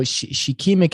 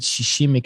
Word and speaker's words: shikimic: So shikimic acid, SHIKIMIC. Some people pronounce it shishimic acid, and it also actually is in a medication that halts blood clots and used in flu medications.